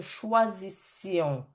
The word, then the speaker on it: choisissions: Dans la prononciation, faites attention à prononcer avec les formes nous, vous. OK? Donc, que nous choisissions, que vous choisissiez, qu'il, qu'elle choisisse.